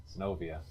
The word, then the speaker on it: Zenobia: Sinovia.